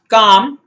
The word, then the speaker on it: calm: the silent l here let's talk about the silent l you have it silent in words like calm you have it silent in words like palm and you have it